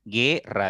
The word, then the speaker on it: guerra: no tiene por qué Porque la u no suena si ustedes pronuncian gu ra directo Suena la e Entonces al sonar directo la e la u pasa desapercibida y no hay un